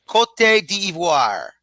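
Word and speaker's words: Côte d'Ivoire: Cot devoir.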